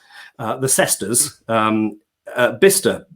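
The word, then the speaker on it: Bicester: the sesters um uh bista it's spelt b-i-c-e-s-t-e-r by sester kind of like the bifrost but not as exciting but it's pronounced bista and for years i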